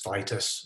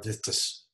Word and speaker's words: Vitis: Grapevine comes from the family Vitaceae and from the genus Vitis or Vitis, depending on what country you come from and how you pronounce it.